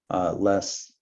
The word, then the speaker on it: LeSS: Less, Large Scale Scrum, the E is again silent, applied to make the acronym more readable.